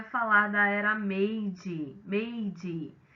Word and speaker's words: Meiji: Bom, pessoal, falar de século XIX no Japão é falar da era Meiji, o J tem pronúncia de D, Meiji ou Meiji, né, que significa governo,